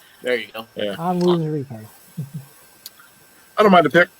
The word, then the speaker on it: Onwuzurike: Onwuzurike, there's the correct pronunciation. There you go. Yeah. Onwuzurike.